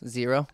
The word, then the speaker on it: Xero: got them uh the zero barefoot shoes and wait can you spell that out for us zero x e r o zero shoes zero Barefoot uh it's